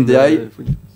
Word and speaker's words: Ndiaye: Non, c'est Ndiaye. Il faut pas prononcer le N, hein. C'est pas Pape N. Ndiaye. C'est Ndiaye.